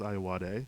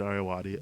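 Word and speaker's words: Ayoade: last name Richard aati I always thought it was aad yeah but it's Richard aati I before this episode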